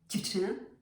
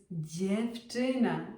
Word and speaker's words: dziewczyna: Dziewczyna, not dziewczyna. It's dziewczyna. You hear the difference?